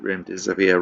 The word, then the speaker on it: remdesivir: Some health professionals quip that remdesivir rhymes with run, death is near.